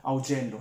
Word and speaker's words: Augello: è conquistato il rigore, ottimo, ottimo, proprio su Augello, sì, si pronuncia così, ecco, mi ero un po' confuso,